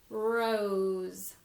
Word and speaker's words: rose: letter but the sound so it's spelled with the letter S but the sound is as like in rose fur Oh rose now we may have